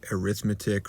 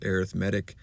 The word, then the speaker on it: arithmetic: on arithmetic sequences i know it looks like arithmetic right but in this case we pronounce it as arithmetic and let's start with some vocab words so